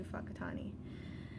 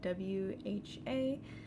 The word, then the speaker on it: Whakatane: It started out with a trip to Whakatane, and that sounds like a funny name for a city, and it does sound a little bit funny. It's spelled W-H-A-K-A-T-A-N-E, Whakatane.